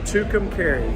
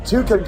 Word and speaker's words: Tucumcari: How do you say it again? Tucumcari. That's right, Tucumcari.